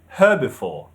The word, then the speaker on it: herbivore: Now when it comes to this word, in British English we say herbivore, herbivore. The stress is on the second syllable, herbivore. But in American, they say herbivore, herbivore. The stress is on the first syllable, herbivore.